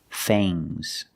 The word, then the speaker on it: fangs: Remember with ngs, it makes a soft g. Bangs. Things. Fangs. Soft g.